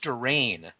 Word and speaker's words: Durain: It's Durain. Like he says, like Durain is falling from the sky.